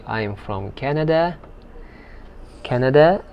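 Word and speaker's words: كندا: say i'm from canada canada that's how they pronounce this word the name the this word in the arabic language canada canada and minneapolis are you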